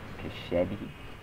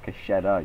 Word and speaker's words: Cachetta: My name wrong. Cachetti? It's Cachetta, you fucking dumbass nigga motherfucker.